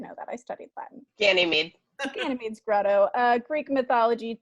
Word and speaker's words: Ganymede: Ganymede.